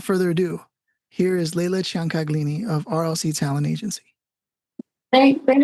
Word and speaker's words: Ciancaglini: So without further ado, here is Leila Ciancaglini of RLC Talent Agency.